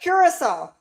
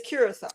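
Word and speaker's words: Curaçao: Curissol. Yeah, curissol. That's how you say it. It's cur It's spelled C U R A C A O, but it's curol. They call it curl.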